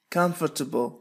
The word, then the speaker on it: comfortable: Make yourself comfortable. لا ننطق الحرف R هنا في comfortable.